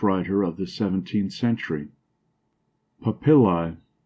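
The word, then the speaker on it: papilla: of the 17th century papil a Latin word Accent on the second syllable meaning here the rough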